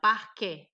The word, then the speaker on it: parquet: Tá aqui marcadinha, parquet. Eu pronuncio o E, eu pronuncio como E.